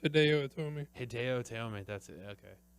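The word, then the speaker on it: Hideo Itami: I believe it's pronounced Hideo Tomi.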